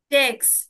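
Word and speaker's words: sechs: বলবো সিক্স কে কি বলবো সেক্স বলুন সবাই জেক্স জেক্স ইয়া এরপরে আসছে সেভেন সেভেন কে কি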